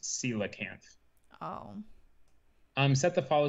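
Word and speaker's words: coelacanth: fall or something um i'm now finding out that it's it's pronounced sila can't oh um set the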